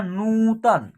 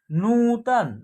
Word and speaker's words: नूतन: देखिए एक साथ होगा नूतन क्या होगा नूतन न का और बड़ी ऊ की मात्रा का उच्चारण एक साथ होगा उसके बाद त का उसके बाद न का ठीक है ना इस प्रकार उच्चारण होगा अब ये नेक्स्ट शब्द